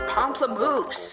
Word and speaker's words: Pamplemousse: It's Pamplemousse.